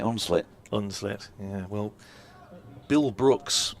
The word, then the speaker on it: Hunslet: run and of course if you from round here you definitely would not be pronouncing the H and You' be you'd be saying it unlit unlit yeah well Bill